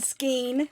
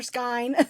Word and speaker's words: skein: iced coffee today with my ryzen skein or skyne skin doesn't rhyme with shine i'm drinking just regular